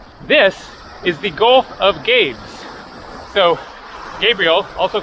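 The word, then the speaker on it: Gabès: This is the Gulf of Gabes. So Gabriel, also called Gabe, I guess it is actually pronounced like Gabes, something like that.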